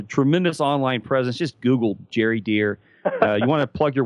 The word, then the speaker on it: Gery Deer: Just do a Google, and that's with a G. It's spelled G-E-R-Y, deer, like the animal.